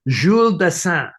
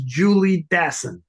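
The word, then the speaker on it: Jules Dassin: people who call uh who say jul daan jeul daan instead of Jules dason he is not French he he is an American he's a New Yorker his name is Julie daon and uh trying to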